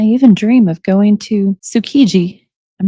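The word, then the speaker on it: Tsukiji: And I even dream of going to Sukiji. I'm not sure if I'm pronouncing that right, friends.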